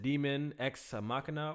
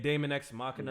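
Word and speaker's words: Daemon X Machina: Well, it's really demon. That's how demon is spelled in some places. I forgot. But they calling it It's Damon. Damon X Machina Yeah.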